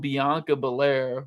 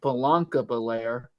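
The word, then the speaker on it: Bianca Belair: got Jade cargo and Bianca Bair or as Michael Co pronounces it banca Bair versus I'm G give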